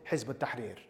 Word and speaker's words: Hizb ut-Tahrir: And that was the ideological Islamist conversation that led to me joining Hizb ut-Tahrir. That's how you pronounce it.